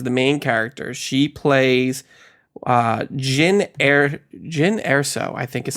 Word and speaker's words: Jyn Erso: She plays Jyn Erso, I think is how you pronounce it. Yep. Jyn Erso.